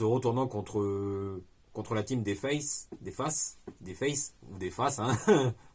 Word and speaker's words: face: contre la team des faces, hein. Moi je prononce face, hein, à la française.